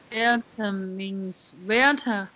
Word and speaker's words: Vietnamese: Yes, but you have to pronounce the T. It's Vietnamese noodles. Vietnamese noodles. Vietnamese noodles. That's right. Vietnamese noodles. Vietnamese noodles. Vietnamese. It's 3 syllables.